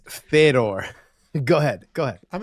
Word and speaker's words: Fedor: have two good point you can tell you're a casual Fedor very interesting it's Fedor go ahead go ahead